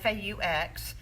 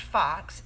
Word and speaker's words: faux: faux tortoiseshell and faux FAU X it's not pronounced fox it's pronounced faux meaning